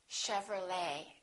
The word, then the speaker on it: Chevrolet: ballet we say ballet a few more ET endings bouquet like a bouquet of flow hour Buffet valet and one more Chevrolet we don't say Chevrolet Chevrolet let's look at a